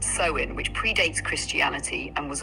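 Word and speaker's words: Samhain: The roots of Halloween lie in the Celtic festival of Samhane pronounced sewin which predates Christianity and was observed by ancient druids.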